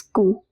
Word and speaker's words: cou: Ku means neck, pronounced as ku.